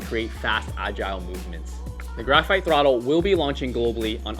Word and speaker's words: Grpht Thrttl: And yes, that is exactly how it is spelled. Don't ask me why, but it is pronounced graphite throttle.